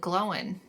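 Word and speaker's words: Glóin: yes gimly son of gloin yeah cuz I think Andy Circus in the audio book pronounces it glowing oh and and that's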